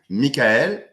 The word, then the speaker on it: Mickael: can you tell us my name is Mikel M it's Italian Origins and I pronounce the French right so it's easier as it